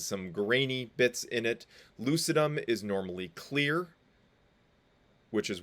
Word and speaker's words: lucidum: stratum granulosum stratum lucidum that's lucidum not lucidum that's a soft C so lucidum and stratum corneum um